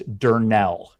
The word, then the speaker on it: Durnell: Since you'll probably say his name a lot today, it's Durnell. Thank you. Yeah. That's how you pronounce it.